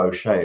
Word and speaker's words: O'Shea: I should know O'Shea. It rhymes with Gilday.